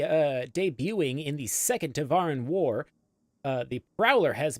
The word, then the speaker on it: Tevarin: as adapt fighters or cultural clarification is pronounced the tavaran okay we'll step up